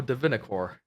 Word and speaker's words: Divinicorp: good, so I'll go Divinicore. Divinicorp. I don't know. How do you say it? Divinicore is how you say it. The P is silent, and you are correct.